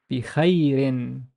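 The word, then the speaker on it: بخير: So we treat the ya as a consonant and the ye sound. And the re has tanween kasra. So how would I pronounce this? Bikha, bikhairin, bikhairin, bikhairin.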